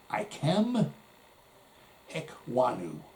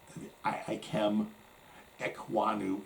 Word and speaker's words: Ikem Ekwonu: Okay, and with that one they got Ikem Ekwonu, I believe that's how you say it, a guard from North Carolina State.